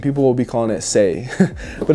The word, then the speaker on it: Saye: um what's that one sneaker beija like veija saye will be right there and people will be calling it say but it's pronounced say people all right next let's see